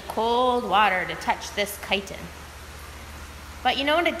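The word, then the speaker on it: chiton: So this is a gumboot chitin, and chitin is spelled C-H-I-T-O-N. Maybe later you can practice writing that one, because the C-H makes a K sound.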